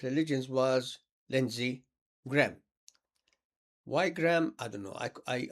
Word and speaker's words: Graham: Why Graham? I don't know. I I I I say Graham with stress on the second part of the word. Graham. Graham. Then take the a off.